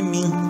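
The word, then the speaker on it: 明: São dois ideogramas que juntos formam o ideograma Brilho, mas a pronúncia desse ideograma é Min, né?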